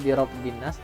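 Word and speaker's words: بِرَبِّ النَّاسِ: Nah jadi intinya membacanya birobbin nas, ro-nya kayak ke huruf lam.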